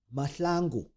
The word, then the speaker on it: Mahlangu: Comedian and gamer turned Sangoma Mongezi, aka Tall As Mo, Mahlangu, that's how you pronounce it, breathed a sigh of relief after the courts cleared him on all charges of Grape.